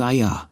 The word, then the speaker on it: Isa: Her sister ISA, pronounced Aya, was probably imagining this conversation in the middle of the night.